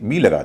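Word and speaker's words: bowl: लेकिन इसी के आगे बी लगा देंगे। यानी इसे बी ओ डब्ल्यू एल कर देंगे तो उसका उच्चारण बाउल नहीं होता। बोल हो जाता है।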